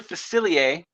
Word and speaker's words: Facilier: for Princess and the Frog is it Dr facilier you got it right or you're right did